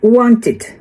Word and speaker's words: wanted: Então, tem aqui essa tabelinha e nós vamos falar juntos aqui que palavras terminadas com T, a gente pronuncia id nesse ED. Então, no caso de want, a gente fala wanted, wanted. Não é wanted, é wanted.